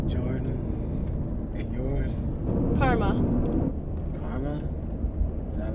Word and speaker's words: Carma: No, it's just Carma. You know, like the thing where if you do something terrible to me, then I have to be a bitch to you? Except it's spelled with a C.